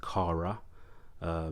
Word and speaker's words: kara: KARA, pronounced KARA, is Maori for flag, and the reason why